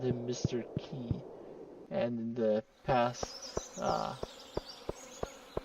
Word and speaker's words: Qi: Qui. That's what he said. Uh I have typically called him Mr. Key.